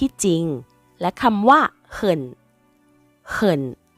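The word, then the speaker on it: 很: จริง และ คำ ว่า เขิ่น เขิ่น ใน ประโยค นี้ ออก เสียง ว่า เขิน นะ คะ แปล ว่า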